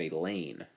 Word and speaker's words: Elaine: I may be a short timer, but you don't have to be at our school very long to know that Elaine rhymes with pain.